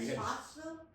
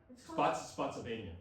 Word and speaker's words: Spotsylvania: Was that Spotsville? Spotsylvania.